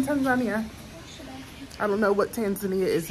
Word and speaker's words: Tanzania: That's how they pronounce it here in Africa, Tanzania. Not Tanzania, Tanzania.